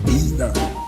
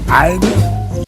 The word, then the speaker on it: either: You say either, I say either.